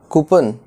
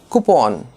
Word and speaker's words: coupon: So how do you pronounce this word? Coupon? No. Coupon.